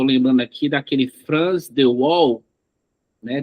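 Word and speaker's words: Waal: Eh, há também eh na área da biologia, eu tô lembrando aqui daquele France the wall, né? W A L, minha pronúncia sempre vai sair ruim, eh, Val, né?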